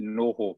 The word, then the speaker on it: Noho: We actually set, we pronounce it NoHo in New Zealand, but that's another story. It's the reason we pronounce it that way is it's an indigenous Maori word.